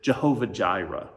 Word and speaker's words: Jehovah Jireh: And we get a name for God out of this that is mentioned in the scriptures, Yahweh Yireh, or in a maybe more familiar way to pronounce it, Jehovah Jireh.